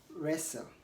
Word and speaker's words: wrestle: when is W silent W is silent or not pronounced when it comes before r at the beginning of ways example is rap we have another example to be wrong and wrestle we also have wrinkle